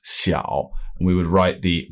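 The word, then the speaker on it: 小: So this character means small, and it's pronounced xiao.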